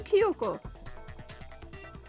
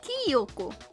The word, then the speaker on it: Kyoko: It's supposed to be Kyoko. Not Kyoko.